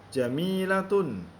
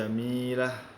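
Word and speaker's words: جميلة: Jamilatun. Ya. Kemudian kita wakafkan menjadi jamilah.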